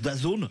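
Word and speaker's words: DAZN: de de programme sportif dazone ça s'écrit d a Zn ça se prononce dazone la zone en anglais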